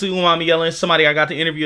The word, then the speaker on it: Umanmielen: Today we going to go over Princely Umami Yellen. Yes, that's the correct pronunciation. Let me know if it's not though. Um, but I'm pretty sure it's Prince Umami Yellen.